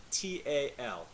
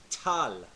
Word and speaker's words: tal: word dial spelled tal now do you notice I'm saying that I'm not letting any air come out of my mouth on the initial T like we do in english I'm not saying it tal you don't want any